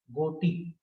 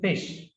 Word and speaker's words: GHOTI: Naturally, you'll pronounce it as goti, but this is fish.